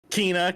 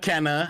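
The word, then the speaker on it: Kena: like i'm gonna play keena kenna how do you say it it's kinah yeah kina okay i'm gonna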